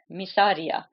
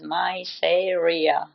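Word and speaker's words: Mysaria: tongue socer right and thank you for getting her name right misia the very people who made fun of her were pronouncing her name as myia my God okay as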